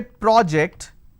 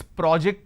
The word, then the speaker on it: project: computer so that's project when I say project it's a noun did you finish the